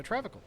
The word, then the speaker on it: Travincal: Okay, so Travincal. There's an N in this?